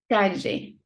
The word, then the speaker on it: calle: But if it is double L, it's like j, lluvia. Calle, street.